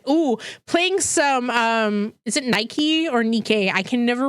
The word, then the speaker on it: NIKKE: Nikkei, okay, Nikkei. There we go. The good old Nikkei. I thought it was Nike because the goddess of Nike is the goddess